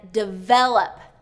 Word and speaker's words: develop: And develop, second syllable stress.